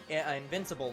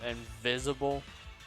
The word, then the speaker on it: Invincible: So there's another franchise called Invisible. No. Oh, you are mispronouncing it. It's I was missaying Invincible.